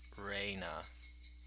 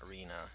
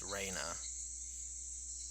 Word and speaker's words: Rena: the pronunciations Rena's name her real name is like Raina not Reena it's Raina you know because that's